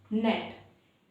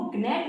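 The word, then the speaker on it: gnat: जैसे कि नेट इसको गनेट नहीं पढ़ेंगे।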